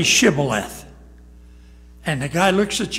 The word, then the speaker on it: shibboleth: side for what reason they couldn't say shibboleth they said civil left and it identified where